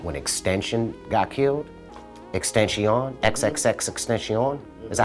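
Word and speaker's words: XXXTentacion: Extension, XXX Extension. Is that how you pronounce his name?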